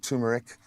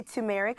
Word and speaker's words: turmeric: If you can get the ginger and turmeric, I always say I feel like I'm saying turmeric wrong. No. Turmeric. Some people say turmeric.